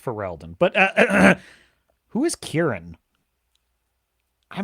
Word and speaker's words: Ferelden: because of her affection for the hero of Faldrin, and her friends like Leliana. It's pronounced Ferelden, but who is Kieran?